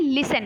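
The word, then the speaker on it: listen: silent हो जाता है फिर हम लिखने हैं लिस्टरइन लेकिन पढ़ने क्या है लिसन लिसन मतलब सुना तो लिसन तो लिसन में क्या है टी जो है वो साइलेंट हो गया लेकिन लिखने समय हम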